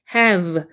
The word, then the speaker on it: have: 여기는 바깥 했자 발음 V 발음은 아뉴스 위니를 살짝 얹고 여기 단수 불듯이 려야 됩니다 have 할 때 여기가 떨리면서 간지러워요 그게 정확한 V 발음이에요 have 그다음에는 어 연결해서 한번에